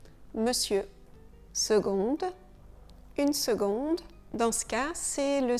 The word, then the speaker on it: seconde: Une seconde. Dans ce cas, c'est le C qui ne se prononce pas comme ça le devrait. On le prononce G. On le prononce comme si on avait un G.